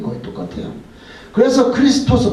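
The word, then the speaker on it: Χριστός: 그래서 크리스토스, 발음은 크리스토스인데 이건 크라이스트가 됐어요.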